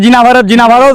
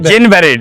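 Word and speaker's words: Jane Barrett: এইটা জ্ঞান ব্যারেট, এটা অনেকে বলছে জিনা ভারত, নামটি ভুল, আমরা বলছি, উচ্চারণ করছি ভুল। ভুল। এটা জ্ঞান ব্যারেট, মানে জেন ব্যারেট।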